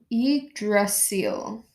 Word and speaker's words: Yggdrasil: Um, if I've got it correct, it's Yggdrasil. Yggdrasil? Yggdrasil. Yggdrasil? Yeah, we'll get there. Hopefully, I'm not absolutely butchering the pronunciation, but um, Yggdrasil is the tree of